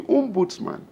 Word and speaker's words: ombudsman: That's the meaning, ombudsman. That's the Swedish pronunciation. And so everybody channeled their complaint to the ombudsman.